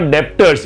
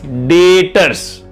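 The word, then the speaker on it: debtors: मैंने सामान बेचा और आपसे पैसे मिलने बाकी है, उसको B silent, it इज नॉट डेप्टर्स, इट इज डेटर्स।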